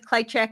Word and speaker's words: Klyczek: And the proper pronunciation, I think, is Klychek, but he does often say Klychek.